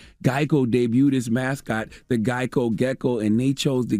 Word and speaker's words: GEICO: debuted his mascot the geico gecko and they chose the gecko because geico had often been mispronounced as gekko and boom martin the